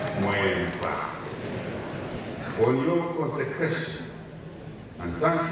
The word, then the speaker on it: Mweempwa: Actually, the correct pronunciation is not Mweempwa, it's Mweempwa. Mweempwa on your consecration, and thank you all for coming to worship and witness this character day.